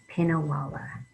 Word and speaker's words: Pinnawala: to pronounce this so this here we emphasize pin and then this is not emphasized a pinna voila and then we try to put it together pinnawala okay ready let's try it